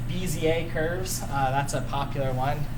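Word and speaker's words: Bézier: one here just so you know how it's pronounced bza curves that's a popular one using graphics we're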